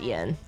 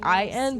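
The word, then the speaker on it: Iain: do you say his name it's it's just Ian it's it's uh spelled e a i n but it's just in let's get one one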